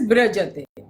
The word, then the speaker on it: Virajate: They pronounce Virajate as Brajate.